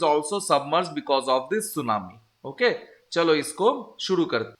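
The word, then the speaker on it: tsunami: sudden rising होता है इसे जापानी लैंग्वेज में सुनामी कहा जाता है इनका टी साइलेंट राहत है इस ऑन डी इवनिंग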